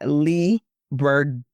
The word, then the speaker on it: Leigh Bardugo: I want to get her name right, by Leigh Bardugo.